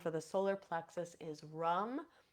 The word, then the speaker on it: ram: So the seed sound for the solar plexus is rum. It's spelled RAM, but it is pronounced rum.